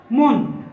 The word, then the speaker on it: মন: এটা মন না, এটা শুদ্ধ উচ্চারণ বা প্রমিত উচ্চারণ হবে মন। আর আমরা যদি মন উচ্চারণ করি তাহলে যে 40 সেরে 1 মন সেটা বোঝাবে। এটা ম দন্ত ন, প্রমিত উচ্চারণ হবে মন, মানে হৃদয় বা অন্তর।